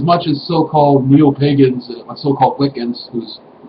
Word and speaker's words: Wicca: And we haven't lost as much as so-called neo-pagans, so-called Wiccans, whose spell it W-I-C-C-A is actually pronounced Wicca, by the way.